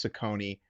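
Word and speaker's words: Cecconi: Okay, that first C is going to be an S. That second C is going to be a K. And that's going to help you pronounce Sakone correctly as we move forward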